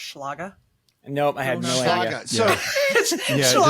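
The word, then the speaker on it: Schlage: myself out somehow so did you guys know that it's actually pronounced schlaga no I had no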